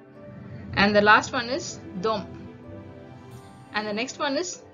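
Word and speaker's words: de: the last one is Dom and the next one is Dom we write it like d e you can read it as Dome or they okay you can read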